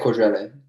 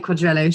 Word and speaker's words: Quadrello: it for me you you'd have said quadrillion i would have said quadrello sure um but we're